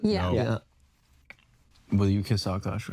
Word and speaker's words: Akaash: Akaash Singh and Jasleen's That's how you say his name. Akaash. thing, marriage drama, and all the disrespect that happened within that.